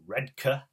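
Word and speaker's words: Redcar: Marcus from place called red car or red car as the locals pronounce it they basically join together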